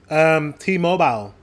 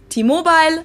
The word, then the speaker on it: T-Mobile: even though it's English, it's pronounced differently in Germany and the US. T-Mobile versus T-Mobile. What? But it's, we pronounce it in England, T-Mobile. I cannot tell you, but I do know that in the UK, people pretty much pronounce it like we do in Germany.